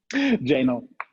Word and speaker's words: Jahnl: Jahnl.